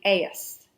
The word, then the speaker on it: Ais: These people, they were the Ais, and you can either spell it A-I-S or A-Y-S.